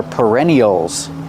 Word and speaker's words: perennial: Use the sound like burger.